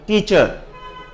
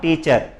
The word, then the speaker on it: teacher: For example టీచర్, నాట్ టీచర్, are silent, final R silent.